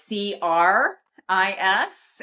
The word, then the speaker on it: Cris: So it is CRIS, and a lot of people want to sneak that H in there out of habit, and if they do, then it won't pop up. So or spell it with a K, I imagine, but it's